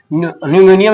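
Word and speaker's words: pneumonia: Chloro chloro ठीक है न्यूमेनियम इसको बोलते हैं पी न्यूपी साइलेंट होता है न्यूमोनिया ठीक है लाइक अ ऑर्गेनिज्म इसको बोलते हैं।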